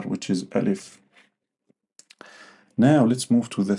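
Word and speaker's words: ألف: a letter in English which is a or al if yeah. So we have two things the name and the pronunciation. So the name is al if and the pronunciation is ah or sometimes extending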